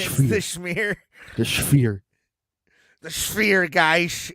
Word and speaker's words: Sphere: Unless you can get in the Spear, but I don't think they can.